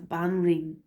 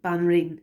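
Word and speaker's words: Banríon: We have Banreen it's like the woman king. Banreen is the queen, and Ardri is the high king. So and Banreen Chinny.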